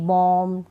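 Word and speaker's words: bomb: तो यहाँ पर बी का उच्चारण नहीं होगा, बी को हम नहीं पढ़ेंगे। चलिए स्पेलिंग्स पढ़ लेते हैं। बॉम्ब, टॉम्ब नहीं, बॉम्ब, टॉम, डम, क्लाइम, कॉम, लैम, थम।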